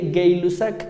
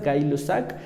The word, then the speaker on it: Gay-Lussac: Después tenemos la ley de Gay-Lussac, así se pronuncia, puede ser gay o puede ser gay, como a ustedes se les antoje, ambas pronunciaciones son correctas, Gay-Lussac.